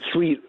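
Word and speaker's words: suite: sweet sweet backseat yeah sweet sweet s-u-i-t-e like the sweet sweet in my back seat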